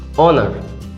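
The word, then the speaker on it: honour: কিন্তু এবার যদি এটা দেওয়া হয় যে অনার, এটার শুরু হচ্ছে এইচ দিয়ে কিন্তু এর উচ্চারণ হচ্ছে অ দিয়ে, বাকিটার উচ্চারণ বলা হয় টোটাল উচ্চারণ হচ্ছে অনার।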